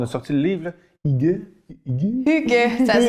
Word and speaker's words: Hygge: Fait que des Y, c'est plus comme des U. Okay. Fait que c'est vraiment, ça se prononce Hygge.